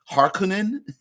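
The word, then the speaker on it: Harkonnen: his sheer brutality I I've heard it pronounced harkonen but whatever I like har Conan I like the the harsher hor at the beginning for me I just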